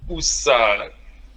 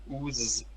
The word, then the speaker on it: usar: Usar. No. Oh. The S is between vowels. Usar.